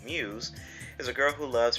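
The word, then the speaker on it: μ's: up a school idol group called Muse uh pronounced Muse uh of course it says it has a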